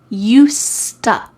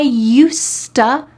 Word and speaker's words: used to: We combine together or link together used to sound like used-to, almost with a T in the middle there. I used to be more fit.